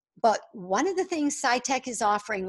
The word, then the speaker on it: PsyTech: owners and founders of PsyTech, that's spelled PSY-TEK.